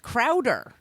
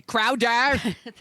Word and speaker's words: Crowder: I'm going to pronounce his name like this, by the way. Crowder. Crowder. He is not from Boston.